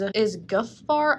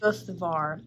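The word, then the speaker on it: Guðvarr: I don't know what letter this is, but this is kind of, it looks like a D or an O with like a slash through it, and it's pronounced TH. Guthvar is her nephew.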